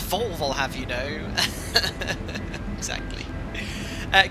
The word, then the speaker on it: Volvo: first time uh kieran it's pronounced volvo have you know exactly uh guys we're just approaching flight level 360.